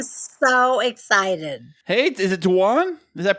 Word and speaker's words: Dwan: Hey, is it Dwan? Is that pronounced it right? That's right. Dwan.